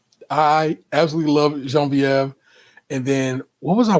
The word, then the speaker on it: Genevieve: I love Genevieve, but you have to pronounce it with a Frenchiation. Jean Viev in my family. I absolutely love Jean Viev.